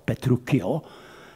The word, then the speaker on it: Petruccio: Ten Petruccio se má správně psát PE a pak dvě C, I-O, ale Angličané to zásadně píší CH a měl by to tedyž vyslovat Petruccio, jako Pinocchio, že jo? Ale všichni říkají Petruccio, takže já budu taky říkat Petruccio a Kateřina.